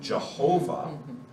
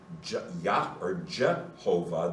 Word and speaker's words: Jehovah: And so the letter J in German is pronounced Yot. So it sounds like a nice Y. In English it becomes J. So all of the J sounds are wrong.